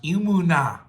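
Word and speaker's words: אמונה: The word is called is pronounced emunah.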